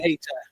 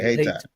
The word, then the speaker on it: Hayti: She was last seen the night before in Hayti, according to police uh You pronounce it Hayti. Hayti. Okay, Hayti.